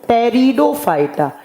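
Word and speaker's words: Pteridophyta: और number three पे आता है टेरिडोफाइटा। पी से लिखा जाता है जबकि प्रोनाउंस किया जाता है टी से।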